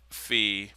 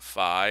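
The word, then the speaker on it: phi: and this is uh fee by the way and some of you may call it fi it's one of those Greek letters this one can be pronounced either way correctly so sin^2 thet *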